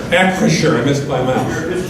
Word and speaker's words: Acrisure: I pronounced the name right? It's Acrisure. Acrisure.